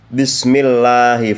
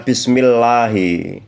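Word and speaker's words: بسم الله: dengan membaca seolah-olah lamnya itu ada dua dan kita tebalkan bismillah. Bismil tidak boleh bismillah harus ditekankan karena di situ ada lam dobel arrahman fauqaro dalam kalimat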